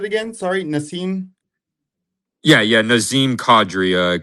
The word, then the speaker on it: Nazem Kadri: Um I tell me if I'm pronouncing his name wrong, but he's on the Avalanche. Is it a Nazem Kadri? Sure. Yeah, yeah, Nazem Kadri over half a point on minus 110.